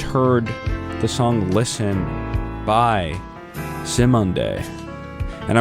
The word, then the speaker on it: Simonde: Just heard the song Listen by Simonde. And I'm really glad I looked up how to pronounce that, because I was totally going to say Simand, which probably makes some people cringe. But Simonde, I feel like it seems like